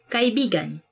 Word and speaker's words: kaibigan: this word cuz like you have to say it like this. Kaibigan. Kaibigan. Buuse kaibigan means friend. But when you twist it a bit and say it like this, kaibigan. Kaibigan that's kind of it's not really a natural way of saying it but it actually means lover.